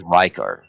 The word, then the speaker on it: Rykard: However, the Dark Souls character in Dark Souls 1 is pronounced, that's how you pronounce it there. Which I think We're is supposed with a Ricard. Y, so it's Rykard.